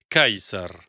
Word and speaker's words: Caesar: La prononciation de César en latin classique était Caesar.